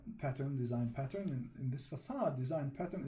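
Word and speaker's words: façade: In this facade design pattern, it's pronounced facade.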